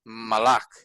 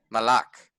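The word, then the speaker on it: מָלַךְ: So this word is actually pronounced malak because it has an ah sound. This is a meme, M sound, L sound, and a K sound. So this word is malak.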